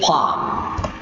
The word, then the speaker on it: palm: yeah dessert flax date palm listen to me carefully to how I pronounce the word Palm letter L is silent so Palm not Palm